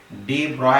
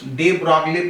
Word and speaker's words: de Broglie: अब देखो स्पेलिंग क्या है इसकी, डी ब्रॉय। अब ये स्पेलिंग अगर पढ़ ली आपने तो डी ब्रॉगली पढ़ लेंगे, पर इसका प्रोनाउंसिएशन करना है डी ब्रॉय। अब अगर किसी ने इसका प्रोनाउंसिएशन डी ब्रॉगली किया तो कुछ मार्क तो कम होते नहीं, देयरफॉर you can say